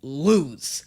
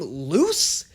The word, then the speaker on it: Luz: Everybody in this show pronounces it lose. Like you lost something. Some people have been trying to tell me that you pronounce her name loose?